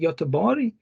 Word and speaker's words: Göteborg: Then you have this letter G and pronounced as J, like Gävle, Göteborg, and then this the